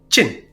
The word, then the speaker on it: Qin: usually quu i n and it's pronounced chin chin shiwang and he